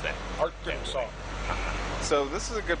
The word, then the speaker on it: Arkansas: with Arkansas with Arkansas okay why isn't it pronounced AR Kanas you can pronounce any way you want to